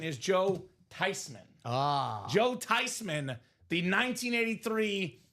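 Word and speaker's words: Theismann: It's not pronounced theman. It's not pronounced Thyman. The proper pronunciation is Joe Tyman.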